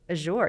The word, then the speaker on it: Azure: But we pronounce it Azure.